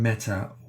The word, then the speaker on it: Meta: Plus, strictly speaking, the name Meta would usually be pronounced to rhyme with letter.